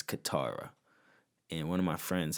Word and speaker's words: Katara: yeah that's another thing apparently i've been saying her name wrong this whole time um it's katara not katana katana i think is